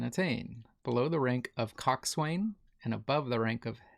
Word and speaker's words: coxswain: I don't think, but coxswain.